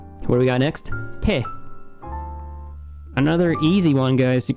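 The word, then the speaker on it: て: Te. That's a te. Te. That easy. And this will never be read any other way. There is no other pronunciation for te.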